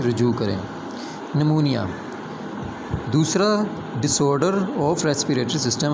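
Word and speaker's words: pneumonia: निमोनिया दूसरा disorder of respiratory system हमारे पास है निमोनिया। पी साइलेंट है।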